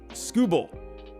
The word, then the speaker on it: Skubal: Bull, not ball. Bull. Okay, so it's Skubal.